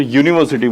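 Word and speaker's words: university: But generally जब हम यूज करते हैं, जब उसकी वोवेल साउंडिंग देखते हैं तो यूनिवर्सिटी बोलते हैं। यूनिवर्सिटी का उच्चारण जो आता है य से आता है और य के लिए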